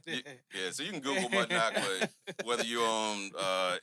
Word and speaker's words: Mudnoc: Um, well, easy for me because my name is is is Mudnock. M U D N O C. Uh, it's condom spelled backwards phonetically.